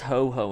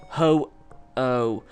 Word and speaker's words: Ho-Oh: That Pokemon was Ho-Ho, and that was Ho-Oh.